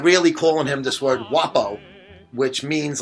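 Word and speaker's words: guappo: word it was called wapo or wapo and it was g-u-a-p-p-o or u at the end and you know when in italian the g is silent so you don't say guapo you say like i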